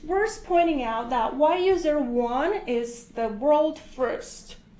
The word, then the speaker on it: YU: Yeah, so it's really elegant and beautiful, and it's like jade, since YU pronounced as Yu.